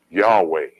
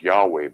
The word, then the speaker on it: Yahweh: name of God is Yahweh. It's Yahweh, brother. Yeah, okay. 20 minutes, you know. Yeah. Clearly in the Hebrew, it has 4 glyphs. How can you get 2 syllables out of 4 glyphs?